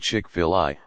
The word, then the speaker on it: Chick-fil-A: chickfila Inc tkf chickfila a play on the American English pronunciation of filet is an American fast